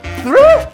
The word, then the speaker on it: through: Through?